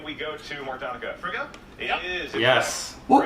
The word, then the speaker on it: Frigga: Frigga?